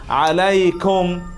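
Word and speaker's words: عليكم: এটা ইয়াটা উচ্চারণ, যেমন আলাইকা, ইলাইহি, আলাইহিম, আলাইকুম, এভাবে উচ্চারিত হচ্ছে কি না? এই উচ্চারণটা এখানে দেখি, সালামুন আলাইকুম, তোমাদের উপর শান্তি।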